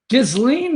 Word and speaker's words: Ghislaine: It's a hard G. Hell, I can't pronounce a hard G on any given day. Ghislaine Maxwell, okay.